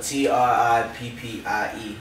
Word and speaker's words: Trippie: Okay, so Trippie is spelled T-R-I-P-P-I-E, and that's because it's Trippie and Hippie put together, because at first my artist name was Trippie Hippie. So I just put them together and made it Trippie.